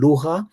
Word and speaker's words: lugha: There are some sounds from Arabic, like re in lugha, but then a lot of Swahili speakers will simply say luga, and that's fine as well.